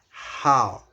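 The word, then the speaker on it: 好: And then how has a falling rising tone, which is how.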